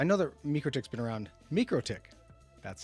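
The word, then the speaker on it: MikroTik: Microick, that's how you say it.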